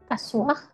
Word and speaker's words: asseoir: ¿Cómo es que se pronuncia? Asseoir.